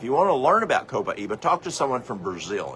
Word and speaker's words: copaiba: Copaiba. That's a c o p a i b-a. Some people pronounce it capayiba. Uh, the Brazilians pronounce it copaiba.